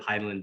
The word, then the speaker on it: Hidilyn: Heidelin.